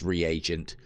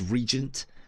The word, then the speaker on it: reagent: but to engage yeah it is pronounced reagent I've never I suppose I've never paid attention to the a within that and always seen it as Regent but there you go reagent right they're stuck in